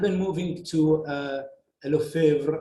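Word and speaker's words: Lefevere: moving to uh hello favre or how they pronounce it in french lofi ver um in 1991 uh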